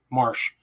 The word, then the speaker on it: Marche: a very special guest his name is stephen marsh his last name is spelled m-a-r-c-h-e he's just published a book january